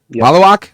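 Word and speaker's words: Maluach: Malawak. Malawak. Malawak. Is that how you pronounce it? Yep.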